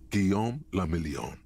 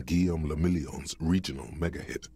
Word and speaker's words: Guillaume Le Million: Guillaume Le Million. Guillaume de Million, what's it mean? If it doesn't rhyme, you're not pronouncing it right.